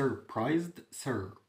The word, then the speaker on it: surprised: بقى مندهش surprised اليو بعدها حرف تنطق A والآي بعدها حرف متحرك تنطق I زي ما هي، والإس بين حرفين متحركين بتنطق Z، فقول إيه؟